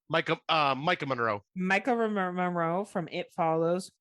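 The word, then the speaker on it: Maika Monroe: The young lady that is in this is Micaiah Moreau from It Follows. Yeah. Did I say it right? Micah Monroe.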